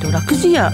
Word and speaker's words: 楽時屋: ェをされている、楽寺屋と読むんですね。